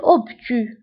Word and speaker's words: obtus: زاوية منفرجة un angle obtus. Un angle obtus. Un angle obtus. فهنا بالنسبة للأوبتو كنكتبوها بأس في آخر الكلمة ولكن لا تنطق.